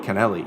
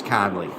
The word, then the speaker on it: Connelly: what kind of with kennelly her connelly can delhi you know they pronounce things differently over there here in the south side of chicago it's connelly so you know he's